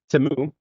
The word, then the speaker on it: Temu: Let me use the correct pronunciation. Temu. It's the weirdest filament I've ever seen.